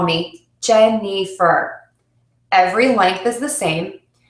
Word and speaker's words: Jennifer: can see the difference let me use a syllable time to say my name gem nifer as opposed to a stress time Jennifer so you can hear that first vowel in gen is nice and long the middle vowel is